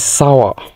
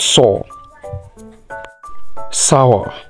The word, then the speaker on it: sour: this run the Vu this is sour not s sour this is Tower not